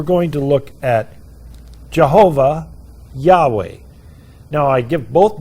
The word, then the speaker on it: Yahweh: How do you pronounce that? Yahweh.